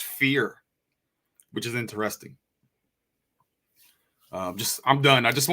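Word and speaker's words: vier: in Germany the letter the number four sounds like fear it's pronounced fear which is interesting I'm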